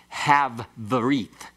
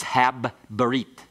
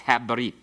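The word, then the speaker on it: הַבְּרִית: a bagad kafath letter, it's the hard sound of the bagad kafath letter that is doubled. So it's not have berit, it's hab berit. Okay, so it's habrit.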